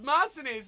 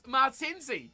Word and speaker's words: Martinzi: I thought it was Martinez, and then I had to actually spell it properly. It was Martinzi, yeah.